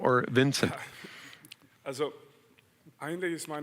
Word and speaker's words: Vincent: Well, actually, it's Vincent, but I played for Hamburg for 2 years, and it never worked out. It's hard to pronounce correctly for the Germans, so Vincent or Vinny, that's fine.